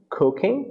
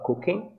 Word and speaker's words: cooking: Cooking, né? Que é cozinhar. Percebam que o G final não é pronunciado na palavra, né, pessoal? Cooking.